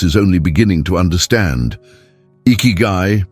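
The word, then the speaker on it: ikigai: Iguai, pronounced eeky, represents your reason for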